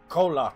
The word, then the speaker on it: Kholat: Kholat, that's how you say it.